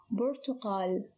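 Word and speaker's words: البرتقال: have pronounced them correctly the first word is bertokal so here the lamb is pronounced the ba is unchanged so the ba is one of the moon letters the second word is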